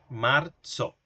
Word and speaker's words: marzo: mediante la cedilla, marzo, como una t y una s se va a pronunciar este señor, marzo.